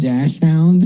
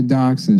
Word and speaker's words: dachshund: that dash hound? Yeah. You know, it's Costco rules here. Yeah. That dash hound. Is that what they're called? Yeah. Dotson. They're dachshund.